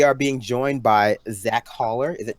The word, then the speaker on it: Haller: We are being joined by Zach Haller. Is it pronounced Haller?